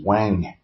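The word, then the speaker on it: Oanh: who was telling me his last name is O-A-N-H, which is Wang, because that's how they pronounce, that's how they spell the phonetically W, and N-G is N-H, and the W sound is O-A.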